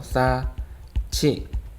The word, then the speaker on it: 쌓지: 희응과 이번엔 지읒이네요. 희응 더하기 지읒은 치읒이었죠. 그래서 싸치 이렇게 발음을 해주면 되겠습니다. 자, 다른 예를 한번 보도록 할게요.